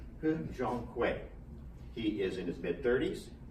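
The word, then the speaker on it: He Jiankui: He Zhonghui. I say that carefully because there are a lot of different pronunciations for his name, but I went to Chinese studies and listened in. So He Zhonghui.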